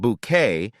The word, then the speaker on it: Bucket: A lady who always wanted to climb the social ladder, pronounced her name Bouquet, and was determined to keep her appearance perfect in all situations.